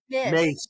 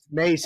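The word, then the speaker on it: Myss: or I watched was Carolyn m Miss yeah mace mace is how well mace is how you really say it but it's spelled m Miss uh yeah but it's pronounced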